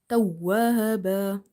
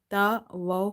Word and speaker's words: tawwaba: Emphasize on waw in order to pronounce it twice. If you say tawa in hurry, then you will end up pronouncing one waw.